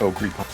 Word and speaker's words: Ogre: Also, it's pronounced Ogre. Ogre? Yeah. O-G-R-E. Ogre. O-G-R-E. That's Ogre.